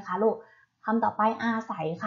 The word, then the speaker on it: อาศัย: มา ใช่ ไหม คะ ลูก ทำ ต่อ ไป อาศัย ค่ะ อาศัย อ่าน ว่า ใส เห็น ไหม คะ ไง มาก